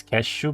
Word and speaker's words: Keszu: It's cashew by the way and that's how you pronounce it. Kazu.